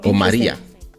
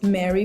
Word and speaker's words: Mari: Mary Mary okay so Maria I accept Mary for English speakers because it's with a Y so I'm not mad okay but the correct pronunciation is Mari because my name is Cuban right my mom is